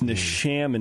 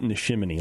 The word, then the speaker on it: Nishim: about pronouncing nishim wrong it's n sham not nishim like ShamWow as you can see